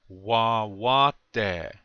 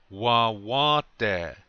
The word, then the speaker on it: Wawate: Wawate. One more time. Remember to put the accent on the second syllable, the second wa, okay? One more time. Wawate.